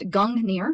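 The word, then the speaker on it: Gungnir: Norse mythology so we have gungir old nor pronounced gungir oh cool I was pronouncing it right is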